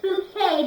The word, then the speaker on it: Bouquet: Bucket," and she says, "No, it's Bouquet," because she doesn't like to be pronounced Bucket, don't you?